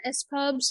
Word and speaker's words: SPUBS: is the lights off as pubs is that how you pronounce it as pubs or s p u b oh yeah s pubs yep yep yep yep I